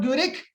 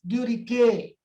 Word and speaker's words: Guericke: Okay, so okay, not Guerick, they spell it as Guericke.